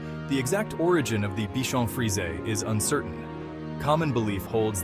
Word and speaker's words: Bichon Frise: The Bichon Frise, pronounced Bichon Frise with the plural being Bichons Frises, is a